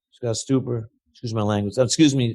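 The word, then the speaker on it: Stuber: And this is where I have to give out a shout out to Ted Sranos, Scott Tuper, Scott Stuper, excuse my language. Excuse me. Been mispronouncing your name.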